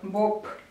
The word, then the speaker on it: Боб: ну и какой-нибудь Боб, да, соответственно, Б, Б, но он произносится как П, Боб, да, то есть вот они у нас с вами глухие и звонкие.